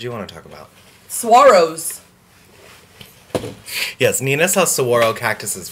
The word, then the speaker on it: saguaro: Saguaros.